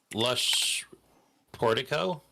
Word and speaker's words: Lush Portico: So it's just Lush Portico. Is that's how you pronounce it? Yes, correct.